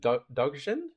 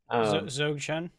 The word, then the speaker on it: Dzogchen: I think I don't know how to pronounce it. Dogchen? Dzogchen.